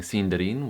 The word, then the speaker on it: Sindarin: The second way I was mispronouncing sindarin was by not rolling my Rs. Most native English speakers don't roll their Rs and so that was just unusual for me which is why I wasn't doing it. But when you're speaking Sindarin, always roll your Rs.